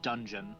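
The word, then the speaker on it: Donjon: the king of clubs uh don john i don't know if i'm saying that right i feel stupid yet it's basically uh pronounced dungeon dungeon yeah as uh she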